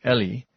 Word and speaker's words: Eli: Well, Eli, or probably pronounced more like Ellie, Eli, Elli um is Aramaic.